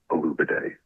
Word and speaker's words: Olubade: And you should probably learn to pronounce his name now. It's Donovan Olubade. That's it.